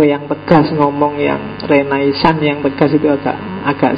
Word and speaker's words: Renaissance: ya renaisan renaisan itu istilah dalam bahasa Prancis bacanya agak sengau belakang yo kalau orang Indonesia sih enggak suka istilah sengau itu biasanya renaisan y renaisan kalau orang Prancis sendiri belakangnya mesti agak hilang renais jadi kalau kita nirunya